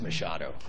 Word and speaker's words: Machado: of the program but if you have to say my name again uh it's Mado got it it's not